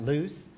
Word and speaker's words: Ljus: technology and as patrick said I'm talking about loose most people don't understand how to pronounce it loose is actually Swedish for lighting